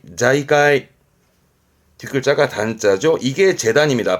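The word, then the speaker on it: 財界: 발음은 자이까이 자이까이 뒷글자가 단자죠.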